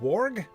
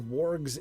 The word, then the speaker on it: warg: Oh, with my pronunciation of warg. Oh, no doubt. Then it should rhyme with hard rather than horde.